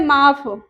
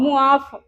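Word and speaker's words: معاف: पहले meme N अली कई लोग कहते हैं माफ पर असल में जो इसकी प्रोनाउंसिएशन है वो है मुंह मुआफ गम लिखना है गम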